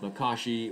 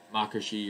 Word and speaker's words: Makashi: learned it and then form two is called makashi or makashi or whatever you can say it however you want then there